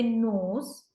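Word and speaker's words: know: similarly when I say NOS when I say no we use K N but there the sound of K is not audible or you can say it is a silent letter when I say PA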